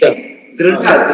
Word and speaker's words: Dhrita: The D has to be Dhrita. The D has to be pronounced as Da.